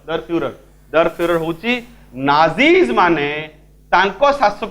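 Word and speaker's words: der Führer: कराइतला मन अच्छी तो दर फ्यूरर होची नाजीज माने तांको शासक को लीडर को जो नारे डाकंती उच्चारणटा भले सुनिबो दर फ्यूरर ठीक अछि जर्मन भाषा रे कुआ हुए ठीक अछि बुझियला तले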